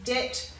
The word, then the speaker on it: debt: Debt, doubt, subtle and succumb all have a silent B in them. And in debt, doubt and subtle you can see it's followed by the T, so we're sounding the T, not the B.